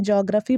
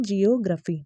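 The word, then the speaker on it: geography: एंड the fifth one इज जियोग्राफी, जियोग्राफी जो कि जोग्राफी बहुत लोग बोलते हैं, जियोग्राफी बोलते हैं, बट जिसका करेक्ट प्रोनाउंसिएशन है वो है जियोग्राफी, ठीक है।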